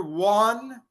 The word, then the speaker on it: won: um the other word one is past tense for win one it sounds like the number o one but we spell that different o n e one one one and one sound the same sound the same I